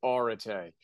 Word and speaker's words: Arete: It's one of those words that nobody knows how to spell, nobody knows how to pronounce, and it's actually debatable, but I go with Arete.